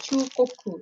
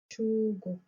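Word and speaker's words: 中国: So this one is pronounced as Chugoku. So Chugoku.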